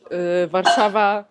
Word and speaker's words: Warszawa: Warsaw in English, Warszawa in Polish.